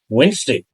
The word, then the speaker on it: Wednesday: Don't pronounce it as Wednesday or Wednesday. It's Wednesday.